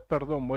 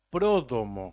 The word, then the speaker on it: Pródomo: No es Perdomo, es Pródomo. Prodomo. Así que le vamos a decir a nuestros compañeros de la vanguardia para que lo... Palabra esdrújula, con acento en lado.